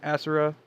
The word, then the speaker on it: Asura: I pronounce it Azora. Some people pronounce it Asera.